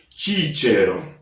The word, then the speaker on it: Cicero: His name is Latin. The correct pronunciation is Cicero.